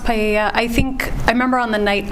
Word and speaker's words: paella: going to be used to cook paella, I'm not sure if that's how you pronounce it, at the party. It's pronounced paella.